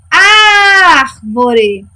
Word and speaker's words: árvore: Junto comigo. Árvore. Quem é a minha sílaba tônica? Exatamente, ar.